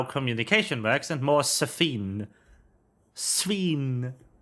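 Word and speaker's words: Sphene: Sveen. I know it's Sveen, but I want to want to pronounce it Safine because that's funny.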